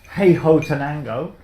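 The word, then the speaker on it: Huehuetenango: Took me ages to pronounce the region of Hey Ho Tenango, but there it is, Guatemala, and it's Caturra Pache Bourbon honey process again.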